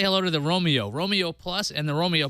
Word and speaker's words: Roamio: say hello to the Romeo Romeo plus and the Romeo Pro now Romeo is spelled r o a m IO as in wandering around because these devices